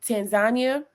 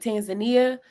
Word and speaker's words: Tanzania: that's a region but I would say Tanzania or that's how they say it but Tanzania that would be the one